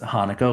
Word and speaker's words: Haneke: It's brilliantly directed by a gentleman by the name of Michael Haneke, actually pronounced Hanukkah, like the holiday.